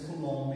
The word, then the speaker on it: Coulomb: Tem aqui a lei de Coulomb, como alguns dizem, mas pelo que eu vi a pronúncia é Coulomb mesmo.